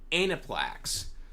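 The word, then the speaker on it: Aniplex: america and a plaques someone finally told me how to pronounce this correctly anaplax um um of america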